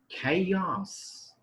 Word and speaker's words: chaos: it is not chaos remember the pronunciation of this word is chaos chaos that means to like commotion or disorder inside the class is known as chaos so i'm a little confused that in the very beginning ch was a church but now here a ch is a curve for example see another